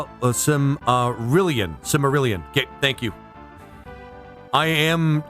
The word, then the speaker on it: Silmarillion: Sorry, it's driving me crazy, but you keep saying Similarian. It's actually Silmarillion.